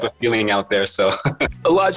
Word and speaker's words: Elladj: And so I have my grandfather's name, but my mom wasn't too familiar with how to pronounce Elladj. And so she asked my dad if we can modify it a little bit. So instead of the H, they added another L, and then it became Elladj.